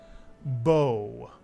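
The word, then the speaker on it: בוא: word b is correct the BET makes a b sound the makes an o sound and the olive is silent Bo and this real Hebrew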